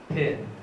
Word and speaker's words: pin: at the spectrogram here my my pronunciation is this pin pin so there is a burst and aspiration and the following vowel